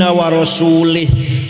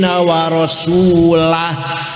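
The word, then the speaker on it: وَرَسُولُهُ: Wa annallaha bari'um minal musyrikin wa rasulih. Allah tidak melindungi orang musyrik dan tidak melindungi Rasulullah. Salah. Yang benar bacanya wa annallaha bari'um minal musyrikin wa rasulah.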